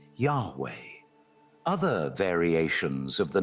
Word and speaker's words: YHW: it's translated into YHW, which properly pronouncing his name as Yah-O or Ye-O, which is literally the god the Israelites worshipped, later being pronounced as Yahweh.